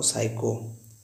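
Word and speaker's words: psycho: जब कभी N और S के पहले P आए तो P को साइलेंट पढ़ते हैं।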